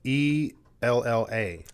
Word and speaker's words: Ella: It's E-L-L-A.